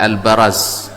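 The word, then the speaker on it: البراز: Sebagian membacanya al-biraz, tetapi kata Imam Al-Khattabi al-biraz itu minal mubarazah, yaitu perang tanding. Tapi yang masyhur adalah al-baraz. Al-baraz.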